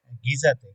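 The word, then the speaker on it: Giza: গিজাতে গিজা যেটা আরবিতে গিজা বলে। তো এই মিশরীয়রা জিমকে গ এর মত উচ্চারণ করে। যেমন জামাল আব্দুল নাসের এরা বলবে জামাল আব্দুল নাসের।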